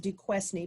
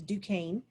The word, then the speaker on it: Duquesne: particular right here fort duquesne it's spelled kind of funny but fort duquesne right here looks like it's pronounced duquesne but it's not it's duquesne for duquesne is a